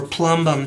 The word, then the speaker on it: plumbum: Its Latin name is plumbum or plumbum, depends on your pronunciation.